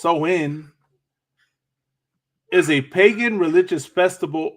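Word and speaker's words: Samhain: know go over it a little bit so Sam Hayne Sam Hayne a GIC word pronounced so in is a pagan religious Festival originating from an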